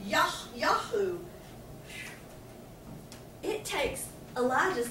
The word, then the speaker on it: Jehu: The name, we call it Jehu, but it's actually pronounced Yahu.